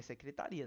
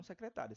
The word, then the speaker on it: secretaria: Aqui é secretaria, não secretária. Se fosse secretária, tinha um acento aqui e essa sílaba seria junta.